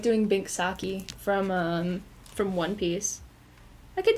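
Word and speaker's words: Binks' Sake: I hate that when I ask for the Alexa to play it, it says Bink's sake. And I know, like, you stupid English hoe, that's how it's spelled, but that's not it.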